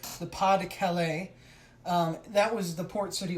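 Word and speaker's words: Pas-de-Calais: It's pronounced Pas de Calais.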